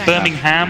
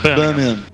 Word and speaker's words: Birmingham: Do you say Birmingham or Birmingham? I try and say it like the locals. Like Birmingham. Birmingham.